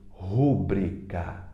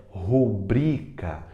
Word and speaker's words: rubrica: pronúncia única correta é rubrica rubrica pronuncia gente faça a sua rubrica rubrica rubrica pronuncia para você aprender é o bri que é mais forte tá bom a a